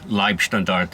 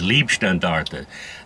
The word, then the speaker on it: Leibstandarte: And Yeah, a lot of people mispronounce Leibstandarte as Liebstandarte. Now, Leib means like body Uh-huh. guard. Standarte is a regiment, so bodyguard regiment. But people mispronounce it as Liebstandarte, which They- actually means the love regiment.